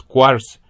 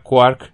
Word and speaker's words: quark: 34 para monster marks la palabra quark se supone que debe pronunciarse como cuarto cuarto pero con un ak al final en vez de una t pero normalmente se pronuncia de manera que rima con la cuerda existe un cierto número